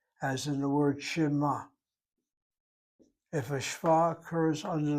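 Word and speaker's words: שְׁמַע: In this case, shema, the word to hear, I'm giving a sound, uh, shema. I'm giving a sound to that shin.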